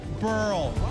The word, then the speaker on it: Burrell: AL LEITER TO PAT BURRELL. RHYMES WITH PEARL.